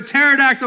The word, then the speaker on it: pterodactyl: Why has no one in the history of the universe heard a pterodactyl go to the bathroom? Because the P is silent.